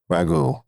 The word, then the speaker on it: Raghu: Raghu. Like the sauce. Like the sauce. Yeah. It's spelled a little special differently, sauce.